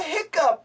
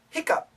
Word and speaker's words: hiccup: something fit like a hiccup fit yeah what I'm doing right now is called a hiccup and there are two spellings but the pronunciation is the same Hiccup and Hiccup Hiccup